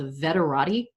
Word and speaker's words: Veterati: I also really like a system called Veterati. It's spelled like Maserati, but has veteran at the front.